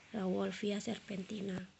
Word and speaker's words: Rauwolfia serpentina: Pule panda atau Rauwolfia serpentina bacanya. Rauwolfia serpentina.